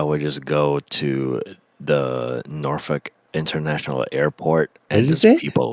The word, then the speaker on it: Norfolk: Beach I would go norfol is that really how you say it yeah norfol why dang it sounds like you're saying like the f word it's like n